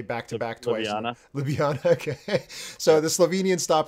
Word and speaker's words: Ljubljana: going to butch, I don't know how to pronounce L and J back to back twice. Ljubljana.